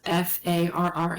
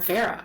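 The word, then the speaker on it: Farrah: and I called her Farah for years. And then one day she was telling me a story about how many of her clients don't pronounce her name correctly. And I was like, "Really? What would they say?" And she's like, "Vera?" I was like I was like, "I say that?" She's like, "Oh, it's Farra."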